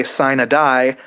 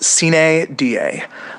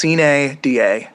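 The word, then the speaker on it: sine die: session in Annapolis and they say s a die that they're wrong. That's not how it's pronounced. It's pronounced s da. Uh literally ca means without. Da means day. Um it's it's pretty similar actually to um to to carp. Get it right. It it's ca da not s a die.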